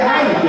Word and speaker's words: Reinke: Ele tá com vergonha, ele falou, não, é que eu não falo, mas a pronúncia correta do meu sobrenome é Heinck, né?